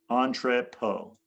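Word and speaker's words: entrepôt: Entree poe. Entree po is the how you pronounce it.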